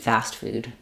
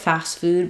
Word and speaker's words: fast food: Um, some people might drop it fast food, but then it sounds kind of like too strong of an S sound. If you keep your s really short, fast food, fast food, then that that's probably okay. But you don't want fast food. Fast food sounds wrong. So either light tea, unreleased tea, or very very short s with no T are your choices for fast food.